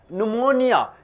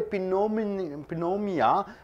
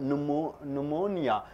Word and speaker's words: pneumonia: right a spreadable disease pneumonia you call it as pneumonia you don't say pinot menomia p is silent it is called pneumonia what do you mean